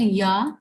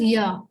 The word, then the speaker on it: ja: Then Yes is called ya. This starts with J, but we know that J has the pronunciation of Y in German.